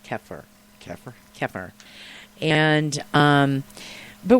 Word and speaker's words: kefir: America we call in America we call it kefir and it's it's actually pronounced keer keer keer and um but what I want